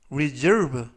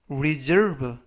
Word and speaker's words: reserve: 뜻이 되겠습니다 이번 표현은 reserve reserve reserve라고 발음하시면 되겠고요 이때 유의하실 점은가 스가 아니라 그래서라고 발음하시면 좋겠고요 사는 사 예약하다라는 뜻을 가지고